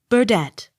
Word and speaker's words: Burdett: d e t t burdette accent on last syllable b-u-r-n-e-t-t burnett accent on